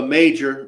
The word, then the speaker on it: Mauger: elk and so again Olga major right Nichols clarifies the pronunciation um this is something